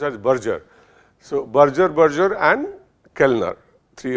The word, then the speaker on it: Berger: It's not pronounced as Berger, it should be pronounced as Berger.